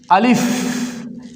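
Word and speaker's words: ألف: দেখেন প্রথমে আমরা শিখবো আলিফ। এটাকে বলে আলিফ। আলিফ। যখন আমরা আলিফ বলবো তখন হালকা বাতাস বের হবে।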